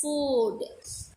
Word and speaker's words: food: You have to pronounce this as food. Look, book. In food, Okay, you spell long oo sound here.